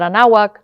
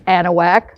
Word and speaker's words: Anahuac: But anyway, Turan, Anahuac, it's not Anahuac, it's Anahuac, Velasco.